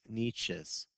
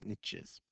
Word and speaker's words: niches: we read about above are referred to as nietzsche's or i've also heard pronounced niches an organism can have more than one niche